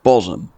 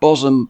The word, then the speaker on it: Bosham: nondescript roads we come to the heart of bosam a Harborside village with much more lurking beneath its surface than just a trick pronunciation bosom's known history goes back about 2,000